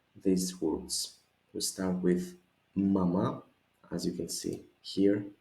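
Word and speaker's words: μαμά: It's important the accent to be at the end. So let's go together after me. Ma, ma, mama, mama.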